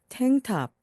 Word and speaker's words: tank top: N 다음에 나오는 K는 발음을 거의 하지 않습니다. 그래서 탱탑, 탱탑입니다.